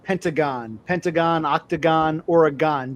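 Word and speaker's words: Oregon: we've always pronounced it Ore-gon cuz it's g o n like pentagon. Pentagon, octagon, Ore-gon. G o n is gone. I don't know why you say gin, but yeah, whatever. So, yeah, Ore-gon, Ore-gin.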